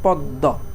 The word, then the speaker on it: পদ্ম: পদ্ম, পদ প্রথমে একবার দ, তারপর দ, 2বার দ হলো, তার মানে পদ্ম। দেখো এখন পদ্ম যখন আমরা উচ্চারণ করি, পদ্ম শেষে কি আসতেছে, স্বরধ্বনি আসতেছে না, তো স্বরধ্বনি আসার কারণে তখন আমাদের শেষে কী হবে, ওকার হবে।